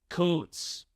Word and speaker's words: Kuntz: The last name of the German soccer coach we interviewed earlier this week is pronounced Koontz.